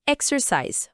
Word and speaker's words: exercise: E para exercise, a palavra é exercise. Vamos quebrar ela pausadamente. I, X, I, R, I, S, I, E. Tônica na primeira sílaba, X.